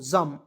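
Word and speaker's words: jamb: एम बी जम पढ़ेंगे बी को साइलेंट रख जैम मीस होता है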